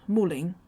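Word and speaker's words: 穆棱: There's a little county called Muling in Heilongjiang. In that place name, it's pronounced Ling. Typically, Lung.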